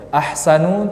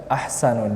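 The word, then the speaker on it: أحسن: Ahsanu tidak kita baca ahsanun.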